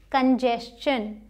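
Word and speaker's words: congestion: इसी तरीके से ये कंजेशन, कंजेशन।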